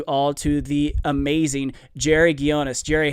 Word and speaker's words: Ghionis: so much and uh you pronounced my name correctly so that's always a good beginning really how do most people say it like geonis or something yeah geonis uh yeah man it's